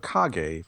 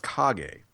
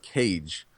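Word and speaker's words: Kage: we see Legend of KAG and I just kind of sat there because I realized for a good 33 years I've been pronouncing this thing as Legend of cage to people and I don't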